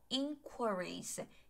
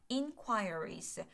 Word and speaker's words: inquiries: 그 다음에 inquiries 발음이 2가지인 단어예요. 사전에 봐도 발음이 2가지로 게재가 돼 있는데 다시 한번 inquiries 혹은 inquiries 괜찮죠?